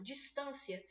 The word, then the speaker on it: distância: para excluir muita coisa distância é uma proparoxítona polissílaba gente toda proparoxítona é acentuada Só que nesse caso aqui ela é uma palavra que ela é paroxítona distância tá vendo começa a